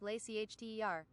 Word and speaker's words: Leicester: It's just Worcester actually, like Leicester is just lay CHTER.